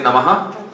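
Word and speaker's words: नमः: If it comes at the end, then the dot underneath the H, it's inflected. So you hear an us sound at the end. So if the nama is at the end of the verse, you'll say namaha. If it's at the beginning, like nama, om, like that, or in the middle, you won't pronounce it.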